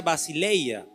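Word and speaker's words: basileia: Y la palabra reino de los cielos en el original griego dice se se pronuncia basileya, la cual se refiere a un reinado, un dominio o soberanía.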